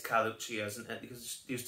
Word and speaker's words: Carluccio's: I'm guessing that two C's together is going to be an H, because that's generally what happens in Italian, isn't it? They always put a ch sound in where it doesn't belong.